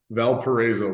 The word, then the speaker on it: Valparaiso: school has a big word that I can't pronounce I always screw it up Valparaiso my my kids have reverted to uh Valpo